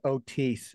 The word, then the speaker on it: Otis: It's pronounced Otis, sir.